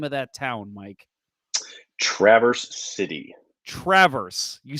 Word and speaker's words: Traverse City: my head now say it's not Traverse City it's Traverse City so yes all right